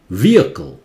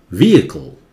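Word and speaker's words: vehicle: दो तरह का उच्चारण होता है, एक तो होता है British Oxford pronunciation, व्हीकल, वी अ को, ये आई जो है अ हो जाता है, और व्हीकल नहीं होता है, व्हीकल.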